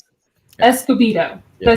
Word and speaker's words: Escobedo: It's Escobido is how you pronounce it or how I pronounce it. Escobido.